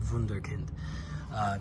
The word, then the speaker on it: Wunderkind: These grips come from, let's see if you can see on the camera, Wunderkind, which is a German company, which actually means it's pronounced Wunderkind.